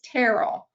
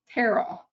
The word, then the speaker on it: Tyrrell: It's more of an A sound, a short A sound, so it's Tyrrell. So you don't even pronounce it as a Y. Tyrrell.